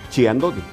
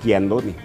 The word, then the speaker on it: Chiandoni: 80 años de vida muy pocos pronuncian correctamente su nombre por lo regular la gente siempre la la conoce como se escribe chiandoni pero en realidad el apellido es chandoni porque es italiano el fundador Pietro chandoni